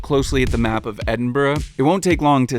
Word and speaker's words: Edinburgh: Edinburgh, to kind of make two syllables out of the burr at the end, because the word burr in Scotland is usually pronounced as burra.